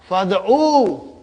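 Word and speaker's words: فادعوا: Why didn't you pronounce this Hamza? Because the Hamza fi'al amar is Hamzatul Wasal. If there is nothing in front, we will pronounce it. If something comes in the front, we won't pronounce it. So fa came in the front, I cannot pronounce Hamzatul Wasal. So it became fad.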